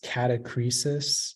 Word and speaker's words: catachresis: Yeah, so only pronunciation is catachresis.